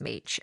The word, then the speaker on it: Mech: So, it looks like mech, but apparently um it's pronounced Meech.